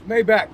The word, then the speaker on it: Maybach: Maybach or is it Maybach? Maybach. I've heard that it's Maybach. I wouldn't know cuz I don't have a Maybach page. It's Mayback. Two hours later. That's how you know. We don't say it correctly, but it's May.